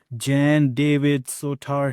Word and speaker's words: Jan-David Soutar: great and amazing friend, the Gentastic Jawsome, justacular Jan David Sotar here. Did I pronounce it right?